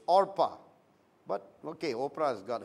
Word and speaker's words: Orpah: the daughters name was all pas not Oprah I think she spelled her name wrong Lee Oprah but really her name was OPA Oh eh ph aah Orpah but ok Oprah has